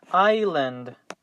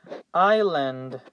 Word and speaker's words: island: in this slide is island island island notice that we do not pronounce the letter S and the result is I land so pay attention to